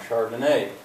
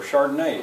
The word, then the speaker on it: chardonnay: liquor cabinet or whatever chardonnay it's a kind of wine a kind of white wine says josh yes that's right what's the etymology now it's wine the accents on the final syllable notice it's capitalized and